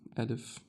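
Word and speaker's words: ألف: Alif. You pronounce it as a because the first sound you hear when I say alif, you hear a.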